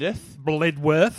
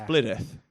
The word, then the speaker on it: Blidworth: not from the area cuz it it is spelled blidworth oh it is so it would make sense to say blid worth it would yes but it's bitth yeah like like Nottingham is